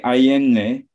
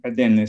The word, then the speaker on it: Adenle: And all what we have in West Africa basically is Lele Ayenle, mm-hmm. who is Lele Adenle, sorry, I mispronounced it.